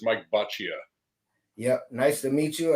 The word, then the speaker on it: Boccia: him do it no that's good it's Mike Bia yep nice to meet you uh before we